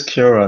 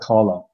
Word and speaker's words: Cara: It is Cara, not Carla.